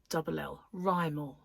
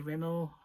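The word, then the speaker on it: Rimell: pronounce it, and yeah, so it was Rymel, R-I-M-E-L-L, Rymel. People say Rimmel, people put 2 M's, 1 L. My dad got a letter once that said to Mr. Rimwell, you know, Mr.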